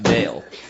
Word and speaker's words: Baal: It's technically pronounced Baal.